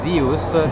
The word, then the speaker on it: Zehus: am the CEO of uh CEO CEO of Zeus Zeus thank you I've been saying it wrong